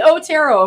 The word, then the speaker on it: Otero: No. Otero. No, you don't have to roll your R too much. Roll it. No, you said it perfect the first time. Thank you, Andy Otero.